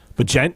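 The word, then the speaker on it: Bagent: Tyson and then I its last name is kind of strange to say it's but Jen I think is how you say it b-a-g-e-n-t I've never heard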